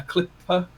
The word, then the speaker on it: Klippe: But I got, and I'm going to pronounce it right here, Brian, instead of the wrong way. But I got a Klippe, which is apparently the correct pronunciation, in blue to build,